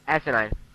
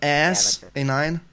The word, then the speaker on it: asinine: Is that the correct pronounced? Asinine. Asinine. Asinine. Not ass A9.